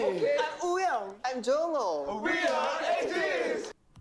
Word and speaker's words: Wooyoung: I'm Wooyoung.